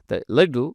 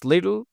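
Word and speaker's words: little: number আমরা এযে করব American লিটিল এটা যে সাউন্ডটা ডাস সাউন্ড রূপান্তরিত হবে সফট ডাস সাউন্ডটা লেডু উচ্চারণ হবে আর লিডল মানি তিনি কম টাকা আয়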